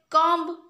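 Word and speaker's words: comb: तापर कम्ब, कम्ब आमर उच्चारण कला बेले कम्ब एमती को बीटा विशेष उच्चारण हो नाही, साइलेंट रही जाउची, तो बी हे जिवो।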